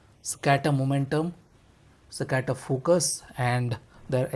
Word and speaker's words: Saccater: I'm still trying to pronounce it properly. It's Saccater. So I'm saying it's Saccater, Saccater momentum, Saccater focus, and their accessory kit, neckband, to be precise.